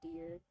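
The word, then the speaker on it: Dire: I sometimes keep forgetting his name is now pronounced dear That that kind of happened a little bit after the game's release.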